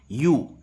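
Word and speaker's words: ewe: आपको ध्यान रखना है इसका प्रनंसीएशन आवे नहीं होगा इसका प्रनंसीएशन होगा यू ए ब्लू ए का प्रनंसीएशन होगा यू ठीक है मद पेड़ को इंग्लिश में बोलते हैं यू स्पेलिंग होती है ईडब्ल्यूएस तो ये आपको विशेष ध्यान रखना है इसका प्रनंसीएशन क्या होगा यू ए भी नहीं होगा ठीक है यू यानी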